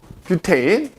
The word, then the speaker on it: 뷰테인: 뷰테인. 그래서 옛날 독일식 발음으로 부탄 그랬다고. 부탄. 이거거든. 쓰면 이렇게 쓴단 말이야. 그러니까 이게 영어식으로 발음하면 뷰테인인 거고 독일식 발음하면 부탄 이렇게 되는 거야.